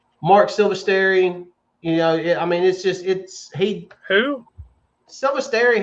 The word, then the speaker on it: Silvestri: Silvestri, how do you say his name?